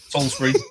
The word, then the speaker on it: Salisbury: So, yeah, it's September morning, autumn, Salisbury. Am I even pronouncing that right? Salisbury, yeah. Yeah. Because it's different spelling to the Peter Gabriel song Salisbury Hill, but I'm like, is it said the same?